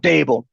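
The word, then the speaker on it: Daboll: don't know, it's been reported he and Dabo, the bowl, how do you Brian pronounce Dable. Brian it? Dable. Dable, head coach of the Giants, butted heads.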